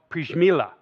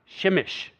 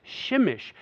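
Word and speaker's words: Przemyśl: town a strange little saying a town called prismillah um it doesn't actually I'm sorry that's how I pronounce it that's how Google pronounces it it's really pronounced shemish I know right it's spelled the same way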